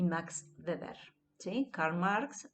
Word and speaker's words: Weber: Karl Marx y Max Weber, ¿sí? No es Durkheim, es Durkheim, ¿sí? No es Weber, es Weber, ¿sí?